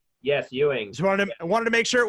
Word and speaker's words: Ewing: down with director ewing ewing correct yes ewing wanted to make sure it wasn't some like